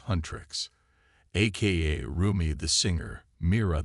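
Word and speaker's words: HUNTR/X: Fast forward to 21st century Seoul and K-pop superstars Hunter/X, pronounced Huntrix, aka Rumi the singer,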